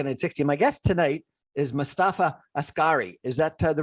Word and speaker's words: Mostafa Askari: My guest tonight is Mostafa Askari. Is that the right pronunciation, sure?